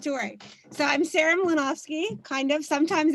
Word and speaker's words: Mlynowski: So I'm Sarah Mlynowski, kind of. Sometimes it's Mlynowski. Sometimes my father told me it's pronounced Yanowski.